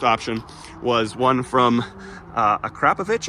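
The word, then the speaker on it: Akrapovič: was one from, uh, Acraovich, I believe is how you say it. Acropovich, Acraovich.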